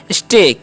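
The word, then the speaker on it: say: हम क्या पढ़ते हैं से पढ़ेंगे क्योंकि ए का उच्चारण देही होगा देर तक हो तो क्या पढ़ेंगे से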